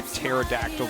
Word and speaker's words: pterodactyl: can't you hear a pterodactyl go to the bathroom why because the p is silent wow the dad jokes